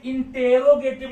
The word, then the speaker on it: interrogative: इस एमआर में इंटेरोगेटिव, जरा ध्यान देना, ध्यान एक बात और देना, ये मैंने इंटेरोगेटिव लिखा है, एक्चुअली पढ़ते हैं इंट्रोगेटिव। तो इंट्रोगेटिव देखकर बच्चे हमारे क्या करते हैं, INTRO करके निकाल लेते हैं।